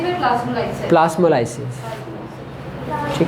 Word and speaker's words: plasmolysis: नहीं, शेप तो वही है, देखो तो इसकी प्रोनाउंसिएशन क्या है? प्लाज्मोलाइसिस या फिर प्लाज्मोलाइसिस? प्लास्मोलाइसिस।